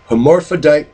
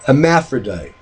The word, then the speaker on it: hermaphrodite: known getting forgotten nowadays amorphoudite calipers some people say hermaphrodite two different pronunciations for the same word you know some people